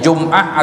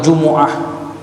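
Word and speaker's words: الجمعة: Ini dibacanya Jum'ah atau Jumu'ah, ya, boleh Jum'ah dan apa, Jum'ah, Jumu'ah, Jum'ah bisa juga dengan sukun, dengan dhamma atau dengan fathah.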